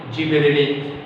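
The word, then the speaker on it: gibberellin: इसके बाद में आज जो सेकेंड नंबर का हार्मोन्स हम देखने जा रहे हैं, इट इज कॉल्ड गिबेरेलिन, या फिर यू can also pronounce it एज ए जिबेरेलिन।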